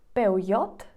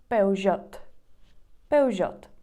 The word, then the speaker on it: Peugeot: іспанці скажуть два варіанти тут є два варіанти вимови Можуть сказати пеу-йод пеуйод а може сказати pudd наступна ця марка Як